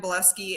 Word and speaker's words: Bileski: Honestly, my name, I'm the only Shannon Bileski out there. So Google Shannon Bileski. And it's spelled bile as in like There we puking go. bile and ski. So like your Bileski. bile ski.